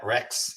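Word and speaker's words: Regts: no so so my my wife's last name is dutch it's r-e-g-t-s think of that r-e-g-t-s right it's nasty so they pronounce it rex rex she's heard it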